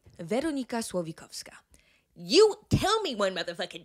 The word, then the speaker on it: Veronika Slowikowska: My name is Veronika Slowikowska. That's right. Veronika Slowikowska.